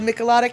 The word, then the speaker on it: michelada: We learned how to say it wrong and how to say it right.